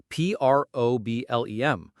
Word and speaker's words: problem: The stress is on the first part, problem. So that second syllable, lem, is weak. We don't say problem with a clear E sound. The E becomes a schwa. It sounds like problem.